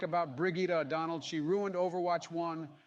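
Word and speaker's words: Brigitte: in a and moving on believable we have Bridget next it's pronounced brigitta Jesus Christ Barack and you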